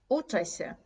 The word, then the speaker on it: uczę się: I tak samo uczę się, uczę się, uczę się. Nie uczę się. Uczę się. Naturalna mowa, naturalna wymowa jest uczę się.